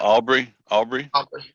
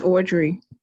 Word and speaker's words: Audrey: Aubrey? It's Audrey.